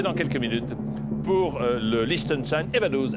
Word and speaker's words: Liechtenstein: Alors, Liechtenstein s'écrit L-I-E-C-H.